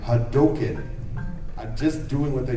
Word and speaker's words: Hadouken: It's like, okay, Capcom hired me, and they told me how it's pronounced. It's Ryu and Hadouken.